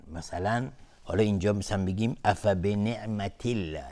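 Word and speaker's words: أفبنعمة الله: بعضیا حکم رو جابجا میکنن، مثلا حالا اینجا مثلا بگیم افبنعمت الله، اینجا به جایی که مثلا ترقیق بشه و نازک لفظ جلاله تلفظ بشه، بعضیا اون رو غلیظ تلفظ میکنن، افبنعمت الله اینجوری میگن، اینجوری تلفظ میکنن افبنعمت الله.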